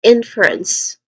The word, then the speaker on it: inference: Uh pronunciation wise, we have three distinct sounds. inference starting with n which is a short e vowel sound followed by fur which has a schwa sound and anotherwa sound for ants again ants.